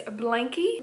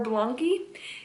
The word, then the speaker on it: Blanqi: And the brand is Blanqi or Blanqi. It's spelled B-L-A-N-Q-I.